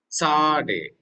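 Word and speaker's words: צדי: Then comes the next letter, sade. Okay, so you have to be very careful with the way how you are pronouncing this letter, because it is like TS sound.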